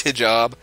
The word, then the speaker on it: hijab: I'm not actually sure about the pronunciation. I think it's hijab.